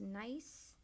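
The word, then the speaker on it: gneiss: be a sandstone and it nice that's pronounced nice choose to be granite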